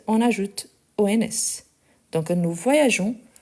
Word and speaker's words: voyageons: première personne du pluriel, il faut garder les E pour avoir les sons des gens et pas des gants. Donc, nous voyageons. Donc ici, on garde les E, même si on ne le prononce pas directement.